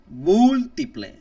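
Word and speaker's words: múltiple: the end now multiple in Spanish we put an accent mark on the first on the first syllable mu multiple multiple and when it's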